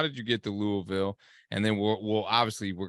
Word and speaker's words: Louisville: know I gotta say I gotta correct you I I it's Louisville you got to say it like with your mouth full of food man it's weird when